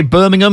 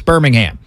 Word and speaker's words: Birmingham: I was going to say Birmingham because my family's from Birmingham in England, so that's how I was going to pronounce it, but I got to remember it's Birmingham.